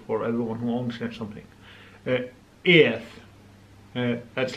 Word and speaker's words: eð: Yeah, put out your tongue when you say it and no one thinks you're retarded.